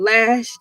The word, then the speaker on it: Elay: I'm your girl LA, pronounced like LA, like the city on that front there, but I'm breezy.